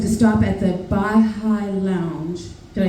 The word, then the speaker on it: Baha'i: And a friend of mine said to stop at the Baha'i Lounge.